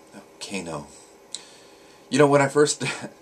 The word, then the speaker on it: Kano: another uh futhark daily Rune so today is Gano no Kano you know when I first started learning rooms